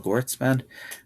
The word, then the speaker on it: Gewirtzman: So I have a Psychology Today um under my name, Gotesman. My email address is I'll spell it out but it's kgoetzman.